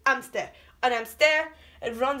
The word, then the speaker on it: hamster: on stair and deer hamster so you don't really pronounce it's not hamsters amster and i'm stare it